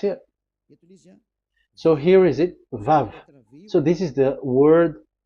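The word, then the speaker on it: ו: So it's V as in Vogue. So it's really V. How to read Vogue? So the word, the shape Vav is really pronounced V, like Vogue.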